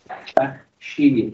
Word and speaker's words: Bakhshi: Bakhshi is the pronunciation in Persian. I'm from Iran originally, right? So if you are from South Africa, you can pronounce it perfectly.